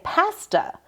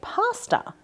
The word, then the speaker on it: pasta: have you ever noticed that the English say pasta and the Americans say pasta? And I would have thought it went the other way.